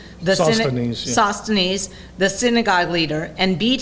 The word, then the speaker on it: Sosthenes: Sosthenes, the synagogue leader, and beat him in front of the judgment seat.